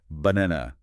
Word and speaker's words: banana: In English, it's banana. See how the first and last syllables are almost entirely swallowed?